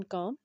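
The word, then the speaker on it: calm: You need remain काम। You need remain काम। एल यहाँ पे साइलेंट है।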